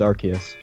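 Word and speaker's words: Arceus: Everyone says Arus, right? Yeah. If I say Archus, Archus like is a huge like about that. I was like, well, it's the legit the official pronunciation is Archus, but Okay.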